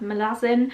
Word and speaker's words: Malazan: in the malazan series which is apparently pronounced malassen but that sounds silly in my accent so i'm gonna say malazan my partner owns the